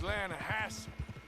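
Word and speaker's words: Lannahechee: The other day, I rode down to the Lanahatchee River. I caught some beautiful steelhead trout. You mean the Lanahatchee River? No. The Lanahatchee. It runs right near here. Yeah, but it's pronounced Lanahatchee.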